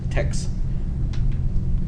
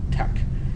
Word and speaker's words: TeX: it's actually not pronounced text it's actually tak tek because it is in greek it's it's tau epsilon kai yep did you want